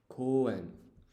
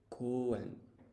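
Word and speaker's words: 公園: I'm just actually trying to remember the how to pronounce park, or like what's the corresponding furigana. So let's take a look. 公園 Koen. Let's check the romaji. Koen.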